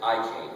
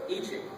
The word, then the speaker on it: I Ching: it more likely that the uninitiated will pronounce it I Ching instead of I Ching.